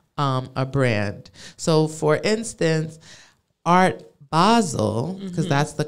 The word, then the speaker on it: Art Basel: So for instance, Art Basel, because that's the correct pronunciation, is December 1st through the 3rd.